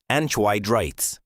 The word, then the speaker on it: anhydrites: The Chickixel impact site sat on top of massive deposits of sulfur bearing rock called anhydrites, pronounced anitrites.